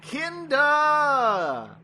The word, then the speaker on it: Kinda: Today, we're going to be talking about the third serial of the 19th season of Doctor Who, Kinda! That is the official pronunciation.